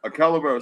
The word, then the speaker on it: calavera: I roll the R sometime, bro. A Calavera, Spanish pronounced Calavera for skull.